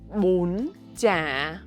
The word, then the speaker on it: bún chả: Bún chả. Chậm. Bún. Chương. Lặp lại. Bún. Chương. Giờ hãy kết nối chúng lại với nhau một cách mượt mà. Bún chả.